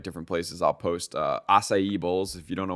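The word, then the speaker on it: açaí: ever had one and if you want to say it correctly it's acai well dude you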